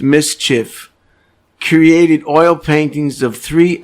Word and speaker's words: MSCHF: collective art collective uh mschf pronounced mischief created oil paintings of